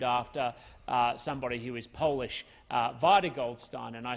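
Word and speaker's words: Vida Goldstein: somebody who is polish vitae Goldstein and I say very specifically with that pronunciation Vidor with the emphasis on the eye and Goldstein like beer stein because I once found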